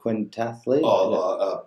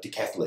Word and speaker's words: decathlete: The quintathlete? Decathlete.